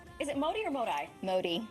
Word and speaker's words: Modi: Modi. Modi, I was right. My default is pronounce something in Spanish, and I can't figure out the pronunciation.